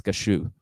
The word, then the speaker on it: cashew: sense but yeah but i pronounce it cashew in english it's kashu and did you know